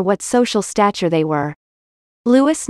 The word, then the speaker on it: Louis: social stature they were lewis nye first name pronounced louis was a master at